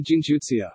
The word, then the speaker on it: джинтуиция: One such example is the word gintuition, gintuition pronounced the gintuitsia, which is made up from the words gin and intuition.